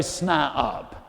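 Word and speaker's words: SNIOP: concentration and confidence and creativity and becomes a SN up now that's spelled SN i o p that's a person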